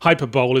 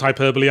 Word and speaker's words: hyperbole: don't understand exaggeration for comic effect and think hyperbole is what Sony's PR department eats cereal out of. Yes, I know it's pronounced hyperbole, I couldn't think of a better joke.